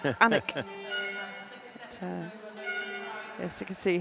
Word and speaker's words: Alnwick: This place, Alnwick, is it Alnwick or Anwick? Which one is silent?" And my mum says, both. It's Annick.